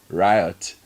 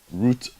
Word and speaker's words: route: Bernard, as a lover of CBS, I'm a little concerned why some of you, especially Godfred, use the pronunciation of riot for root.